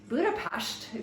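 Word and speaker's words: Budapest: Eastern Europe a few years back and um Buddha pasted if you know you know that's how you pronounce it um there's Buddha and then ped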